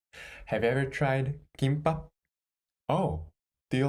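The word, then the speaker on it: 김밥: Can you read the first syllable? Yes. Kim. There is mu sound consonant in the final consonant, so gi plus mu sound final consonant. Kim. Kim. Second syllable. Can you read it? Yes. Without the final consonant, it is ba, and add the sound of the final consonant, so it is pop. Pop. So kimbap. Kimbap.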